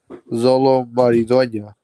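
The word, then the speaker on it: Xolo Maridueña: Zolo Maridueña.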